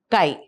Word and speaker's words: chi: The symbol of electric susceptibility is Kai where E is electric and this is the symbol of susceptibility which is pronounced as Kai.